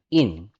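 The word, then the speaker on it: 人: meaning and pronunciation Okay So this one ang pronunciation sa kanya Ay in Okay so parang tao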